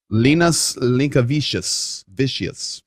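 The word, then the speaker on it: Linas Linkevičius: How do you pronounce that? Linus Linkevicius.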